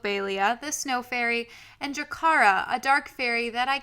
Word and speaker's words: Baelia: other fairies do also Talia which ironically rhymes with Balia the Snow Fairy and